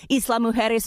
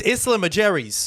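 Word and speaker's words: Isla Mujeres: the festival's exact location Islam muis Mexico how are we your news producer and you're pronouncing this wrong it's Islam aer's beautiful island Islam Aeries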